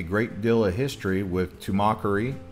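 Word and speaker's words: Tumacácori: Some people call it Tumacacori, but it's actually Tumacari.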